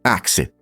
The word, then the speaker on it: ask: Por exemplo, a palavra ask, na verdade, era pronunciada como axe.